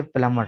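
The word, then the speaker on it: plumber: इसके बाद है प्लमर, ठीक है, PLUMER, बी को साइलेंट कर देंगे, स्पेलिंग में लिखेंगे लेकिन पढ़ते हुए नहीं पढ़ेंगे, तो ये होगा प्लमर।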